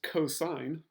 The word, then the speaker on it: cosine: that you see on the calculator that is pronounced cosine si o si ne but we'll always abbreviate